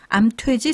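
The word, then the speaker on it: 암퇘지: 그러면 암탉, 수탉, 암퇴지, 수퇴지 이렇게 발음이 되네요. 그러면 이제 개가 캐가 되고 닭이 이제 탁이 되고 또 돼지가 퇴지가 되는 것이 모두 다 이 히읗과 관련이 있다 그런 말씀으로 들리네요.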